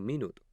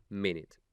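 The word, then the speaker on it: minute: del alfabeto fonético internacional si aprendes inglés de esta manera no te pasarás toda la vida diciendo minuto como le ocurre a muchas personas cuando incluso ya tienen un nivel avanzado en gramática desde el primer momento habrás asimilado correctamente que esto se pronuncia ménez volviendo a la idea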